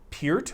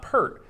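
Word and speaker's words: Peart: a serious classic rewind they kept calling him Neil peered with like the way Daryl pronounces it not pert and now he's confused yeah well sorry David I might be just adding to your confusion I don't know I always called it pert yeah did you ever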